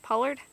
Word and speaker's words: pollard: Pollard?